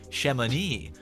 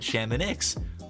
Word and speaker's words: Chamonix: In French, that would be pronounced Chamonix. But, and bear with me here, the people who actually live in this place, the locals, they call it Chamonix.